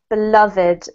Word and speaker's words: beloved: Beloved, beloved. It's an unusual one in that we pronounce the ed as a separate syllable.